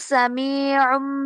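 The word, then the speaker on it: سميع: জি ওয়াল্লাহু সামিউম বাসীর। ওয়াল্লাহু সামিউম বাসির। উমটা আইন উচ্চারণ হবে, গলায় হুম চাপ দিবেন।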